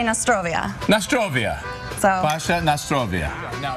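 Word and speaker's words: na zdrowie: okay how do you say cheers we say Nostrovia Nostrovia so FAS Nostrovia now if somebody's interested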